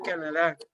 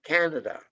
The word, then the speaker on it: Canada: Uno tiende a pronunciar Canadá, pero resulta que el mayor golpe de voz lo lleva aquí. Canada.